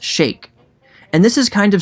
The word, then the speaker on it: sheik: people were saying that shake is closer to the original arabic pronunciation and i don't know for sure if that's the case but like many words when they transfer over to other languages the pronunciation also changes as well as the nuance or even its overall meaning in the united states where the 1920s slang meaning was popularized it was definitely pronounced sheik if you don't believe